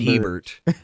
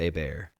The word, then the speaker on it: Hebert: I always said pronounced Herbert. but I think it's pronounced Bear.